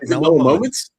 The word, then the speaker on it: Mellow Moments: You said it right. Mellow Moments. Mellow Moments. Okay, nailed it.